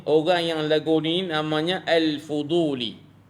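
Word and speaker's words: الفضولي: yang lagu ni namanya al-fuduli tuan-tuan sebut dengan alfuduli Al fuduli alfuduli al-fuduli tuan-tuan ejaannya alif lam Fa dad wau lam ya alfuduli ambil daripada perkataan fadlun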